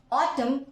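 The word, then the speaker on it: autumn: नाम है friends so ऑटम यानी पतझर देखो एम के बाद एन आया एन नहीं बोलेंगे या फिर डम हमने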